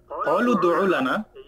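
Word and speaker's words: قَالُوا ادْعُ لَنَا: এক পর্যায়ে গিয়ে জিজ্ঞেস করলো, এই কলু, তারা বললো কলু দুউ লানা, এই এটা হলো আলিফ হামজা না, সেজন্য এটা আমরা উচ্চারণ করি না।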